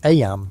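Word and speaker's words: Eyam: It's now the summer of 1665, and we find ourselves in Aam, a small village nestled in the picturesque hills of Darbisha, England. Aam, you know, is pronounced just like em.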